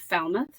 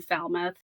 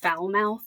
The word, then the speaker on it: Falmouth: Yeah, originally I had actually set the book in Falmouth, but figured out too many people don't know how to say it. And they thought I was trying to make a joke that it's pronounced Foulmouth.